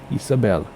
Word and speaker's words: Isabel: town of Santa Isabel Isabel there's no accents you accent the penultimate syllable Santa Isabel land at